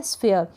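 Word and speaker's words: sphere: क्या है, स्फीयर। ये जो एस है ना, इसको आधे स के रूप में पढ़ रहे हैं, रीड कर रहे हैं, और पी एच को हम फ प्रोनाउंस कर रहे हैं।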